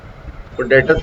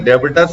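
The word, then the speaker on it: debtors: इसको सुन ट्रेडर्स सनर्स लोगों को जो है ना डेटर्स की जगह डेबिटर्स बोलते हैं क्रेडिटर्स की जगह प्रोनाउंसिएशन सही होना चाहिए।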